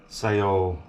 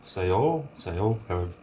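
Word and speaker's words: xèo: now i'm not sure the xeo in the vietnamese name sayo sayo you pronounce it correctly i think that means either singing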